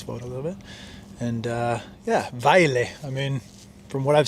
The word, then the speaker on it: Vejle: Vejle sounds very nice to say, even though there's a J in there, so not pronouncing the J, Vejle.